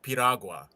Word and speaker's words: piragua: I will say, no, it is pronounced Piragua.